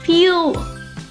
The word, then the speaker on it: fuel: The correct pronunciation is fuel. Fuel is technically has two syllables. Fuel, but in fast or casual speech is often said just like one syllables.